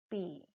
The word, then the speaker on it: pi: luas dan Keliling lingkarannya yaitu by ini namanya P ingat-ingat cara membacanya PPI siap ya kita lanjutkan di adalah